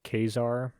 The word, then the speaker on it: Caesar: I believe I'm not I'm gonna say Caesar I know the uh correct way to pronounce it is actually like Kazar not gonna do that sorry